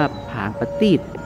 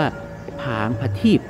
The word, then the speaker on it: ผางประทีป: ที่ จุด ผาง ประทีป อ่าน ว่า ผาง ประ ตีบ หรือ ว่า ผาง พระ ทีป ก็ เป็น ถ้วย ภาชนะ